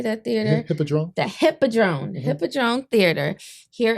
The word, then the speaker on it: Hippodrome: Hippodrome.